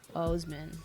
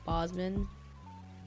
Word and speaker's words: Boseman: Chadwick Boseman. I almost said like Bosman.